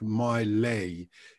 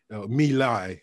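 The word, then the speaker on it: My Lai: had here, Jail Carnage, Like My Lay, Me Lie, I think is the right pronunciation of the Vietnamese village that was basically laid to waste by Americans who did horrific things there.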